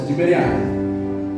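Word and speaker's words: Tiberíades: Tibirades, Tiberiades, entre pronúncia Tiberiades.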